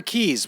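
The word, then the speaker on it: cay: It's actually key, like Florida Keys.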